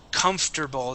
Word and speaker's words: comfortable: now the word comfortable this is a strange word because we pronounce it completely different than how it is spelled okay so it is com com and then okay so we skip over that o r instead of saying comfortable it is comfortable comfortable